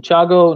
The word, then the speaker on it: Thiago: So no T in Thiago, no T in Cathal, no T in Castle.